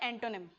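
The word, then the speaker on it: antonym: और ये होता है एंटोनिम, एंटोनिम। ये आपका फोनेटिक साउंड है, इसको प्रोनाउंस कैसे करते हैं, इसको बोलते कैसे हैं, एंटोनिम, एंटोनिम, ठीक है।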